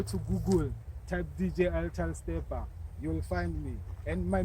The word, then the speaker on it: Steppa: Steppa, STEPPA, not PER. It's double PA. Facebook, Twitter, Instagram. Yes, all the social networks. You can find ital Steppa. Just go to Google, type DJ ital Steppa.